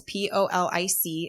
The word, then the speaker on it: Polic: So that's Polic. It's definitely, it should be like a Pollock or something, but it's a soft C there.